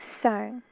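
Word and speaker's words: 常: I don't know the meaning for this, but this is pronounced Sung. In Cantonese, Sung. Mandarin is pronounced Chang.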